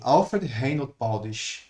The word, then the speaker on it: Alfred Reinhold Baudisch: Alfred Reinhold Baudisch. Perfect. Yeah. But it has nothing to do with German, right? The way I said, it's more English, right?